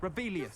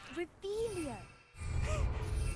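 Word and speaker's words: Revelio: You're Rebellious. saying it wrong. Ugh, Revelia.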